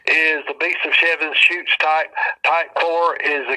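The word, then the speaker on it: Chutes: Beast of seven shoots and his shoots is spelled c hu Tes and seven shoots is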